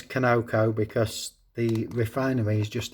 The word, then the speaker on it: Conoco: Conoco, some people pronounce it, but I know it is Conoco because the refinery is just down the road from me.